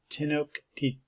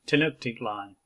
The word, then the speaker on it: Tenochtitlan: men took this route and eventually arrived in Tenochtitlan, I believe that's pronounced, which is now Mexico City, Tenochtitlan.